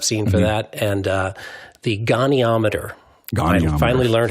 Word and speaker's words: goniometer: limbs, they use a angular measurement that's a goniometer.